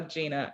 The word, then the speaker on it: Gina: It's spelled Jenna. Yes, I know, but it's Gina, and born and raised in Milwaukee, Wisconsin.